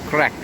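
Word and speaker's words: craic: spelling in here somewhere you pronounce it as in crack as in the crack in the windscreen that kind of thing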